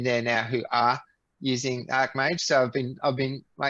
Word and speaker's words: archmage: But I think the correct pronunciation is perhaps like archangel, archmage.